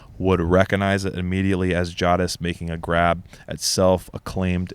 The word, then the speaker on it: Jadis: In this episode, you were discussing why Jadis, and she has a pronunciation here, Jadis, yeah, on the back of Strawberry declares, "Dog unhand our royal charger.